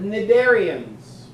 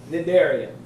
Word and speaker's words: cnidarians: All right, cnidarians. The C is silent. Cnidarians.